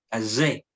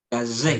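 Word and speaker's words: כָּזֶה: Kazé. Kazé. Kazé. Recuerden que la sign suena como el sonido de la abeja. Tienen que practicar así. Zain. Kazé. De. La acentuación es la última sílaba.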